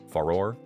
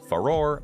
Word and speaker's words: Farore: or fi or faor uh I'm going to pronounce it foror and halia as well I say halia because